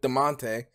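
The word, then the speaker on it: Damonte: I don't know why Echo Fox let him go in the middle of the season to replace him with DeMonte.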